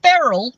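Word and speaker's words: Beryl: okay do you know anyone called Barrel b-e-r-y-l yeah it's an older name I've read it in books people named Barrel that I don't know anyone yeah rhymes with Cheryl you always wanted a dog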